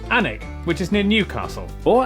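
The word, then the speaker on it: Alnwick: stop in quernmore quma before finishing up in alwick anik which is near Newcastle or as the people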